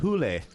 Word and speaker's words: Hole: Mr Sledgehammer but then it but but it's pronounced hulle do you know what I mean yeah and